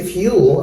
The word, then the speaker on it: fuel: they say Fuel and they can also say fuel right so this is in one syllable I think yeah in one uh syllable yes so this is in one syllable Fuel and this is in two syllables fuel this is in